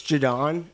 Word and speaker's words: Jaudon: I mean, I've heard before, which to me is like the worst because it's spelled nothing like. There's no R. Right. There's a lot of like questionable pronunciations, but it's Jaudon.